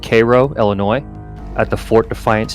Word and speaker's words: Cairo: of the Ohio and the Mississippi River near Koo that's the pronunciation give me a sec I want to